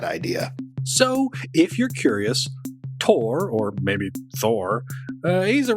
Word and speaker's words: Thor: as Thor the Mighty, though in the film they pronounce his name Thor.